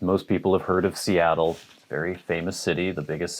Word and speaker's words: Seattle: the pacific northwest but i've heard international people people from germany for instance say cetl or seattle it is seattle so emphasis on the second syllable seattle named after a